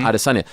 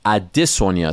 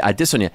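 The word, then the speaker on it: Adesanya: fighter named Israel aresanya everyone calls them arasanya but I noticed that he said his name a different way and so I asked him off to this I was like is everyone saying your name wrong you said yes it's addisonia so every time I talk about him I say I dis on you now everyone gets annoyed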